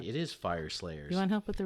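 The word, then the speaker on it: Fireslayers: We got Games Workshop, it's Shop, GameWorks Shop, previews new runes for Fry Slayers. So check that out with Games Fire. That's right, it is Fire Slayers.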